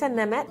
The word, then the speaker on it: Nemet: Nemet.